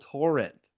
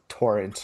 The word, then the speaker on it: Torrent: the, drumroll please, Seattle Torrent. How are we feeling about the new name? The way that you say torrent makes me uncomfortable. Yeah. You put the emphasis on the wrong syllable.